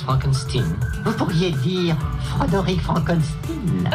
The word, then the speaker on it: Frankenstein: Non, mon nom se prononce Frankenstein.